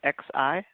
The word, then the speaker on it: Xi: And then you've got other tools there, Sizer, Foundation, Extract, and how do you pronounce the Nutanix Cloud? XI? Xi. So Nutanix Xi.